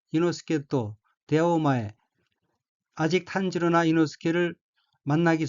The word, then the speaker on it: 伊之助: 셋째 줄 첫 번째 한자는 한국어로 탄치랑이고 일본어로는 탄지로라고 읽으며 탄지로는 등장 인물 중 한 사람입니다. 다음 환자는 한국어로 이지조이고 일본어로는 이노스케라고 읽으며 이노스케 또 등장 인물 중에 한 사람입니다.